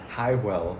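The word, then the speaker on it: Hwyl: Highwell? I don't know how it's pronounced. It's Every time Quill. I walk in there, I feel like a loser. Don't worry, Ty. It's Quill.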